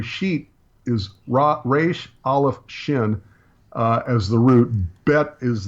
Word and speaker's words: Shin: I was pronouncing this Xin but I'm finding out I was pronouncing well I'm not sure I've heard it both ways but since last time I filmed Shin I think is the preferred pronunciation and that's how we're